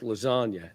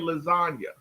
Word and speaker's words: lasagna: you don't understand that the G is silent in lasagna.